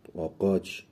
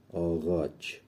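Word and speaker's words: ağaç: آقاچ آقاچ آقاچ آقاچ آگاچ یا آقاچ خونده نمیشه این تلفظ نمیشه آغ آغاچ آغاچ یعنی درخت هاوچ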